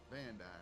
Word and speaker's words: Van Dyer: Which, how do you say Van Dyer? Van Dyer, that's correct.